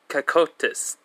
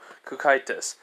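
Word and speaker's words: Cocytus: Kakotis. Yep. It's basically C-O-C-Y-T-U-S. Alright, so basically, yeah, Kukaitis.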